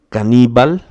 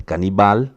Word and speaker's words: caníbal: Caníbal, não é canibal, caníbal.